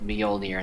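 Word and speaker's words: Mjölnir: It's It's pronounced Mjolnir instead of Mjolnir.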